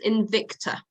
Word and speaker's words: Invicta: Help me with the pronunciation of the title of the album. It's Invicta.